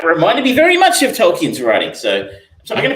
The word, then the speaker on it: Tolkien: me very much of Tolkien's writing. So I'm going to pronounce it wrong. I think it's Tolkien, but I pronounce it Tolkien.